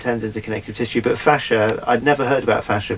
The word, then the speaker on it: fascia: Fascia? Fascia, yeah. Okay, yeah, right, well, choose your favourite pronunciation and tell me about it.